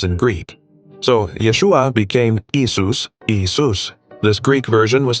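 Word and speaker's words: Iesous: The Greek language didn't have a Y sound at the beginning of words, nor did it have the esh sound. The closest equivalent they could create was Isus.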